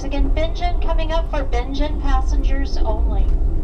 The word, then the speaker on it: Bingen: benj coming up for Benin passengers only that's how you say it I thought it was binging b i n g